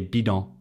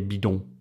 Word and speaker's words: bidon: I would never say bidon, bidon. I'd say bidon.